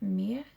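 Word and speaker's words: Mehr: in the description below but it's like meh it's like m-e-h-r like mere matte lipstick it's absolutely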